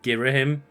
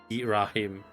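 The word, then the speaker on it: Ghirahim: may call girim and I've only ever heard people pronounce it girim I don't know if that there is another pronunciation but I've always heard gim like gim in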